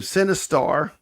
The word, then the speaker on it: Sinistar: Sinistar. Yeah, it's spelled Sinistar. Yeah, like Sin, like movie.